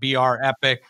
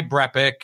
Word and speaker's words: BrEpic: you get it a lot brepik it's not BR epic why brepik and am I pronouncing it right yes thank you my wife